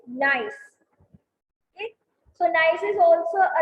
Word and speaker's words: gneiss: ये इनकी जो स्पेलिंग है GNTISS, this is gneiss.